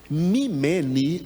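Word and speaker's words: ממני: apartai-vos né fiquem longe mimeni é como se fala bonitinho né em hebraico assim diga mimene mimene é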